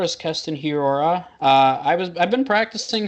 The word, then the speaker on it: Hiura: Yeah, it's hard because I mean you were saying Hirua and I was saying Hiura.